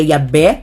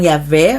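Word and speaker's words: Yahweh: do Tet gramaton né a pronúncia na verdade é mais antiga Y abé né Não yavé mas a gente acaba com essa pronúncia né que foi restaurada e mantendo aqui mas a pronúncia mais primitiva é i abé né I abé porque vai vi a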